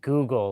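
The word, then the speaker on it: googol: So you say Google like as in like you know the Google platform. Is it spelled the same way or is it or is it or I know it's pronounced the same, but is it spelled the same way?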